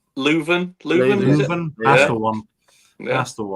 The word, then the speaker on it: Leuven: Pronunciation. O-H Leuven. Leuven.